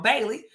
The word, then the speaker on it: Bailey: bra uh oh GE I said his name wrong Bailey Joshua Bailey AKA AJ B um